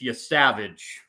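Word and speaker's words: Yesavage: It's I've been mispronouncing his name. The pitcher is it's Yavage. I've been pronouncing it incorrectly. Y Savage.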